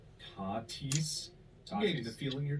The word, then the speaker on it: Tatis: Also, you mispronounced one of the biggest stars' names in an episode, calling him Fernando Tatis Jr. when it's pronounced Tatis.